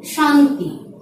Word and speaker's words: শান্তি: অর্থাৎ SH, ইংরেজি SH, তালব্য স এর উচ্চারণ আসে SSION অথবা TION। এইভাবে যদি শব্দের উচ্চারণটি হয়ে থাকে তাহলে সেখানে তালব্য স-ই ব্যবহার হবে। আমি উচ্চারণটি নির্ণয় করে দেখাচ্ছি। শান্তি, শান্তি।